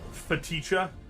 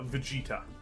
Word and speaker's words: Vegeta: better about myself uh feticha no it's uh vegeta it's pronounced oh boy so sad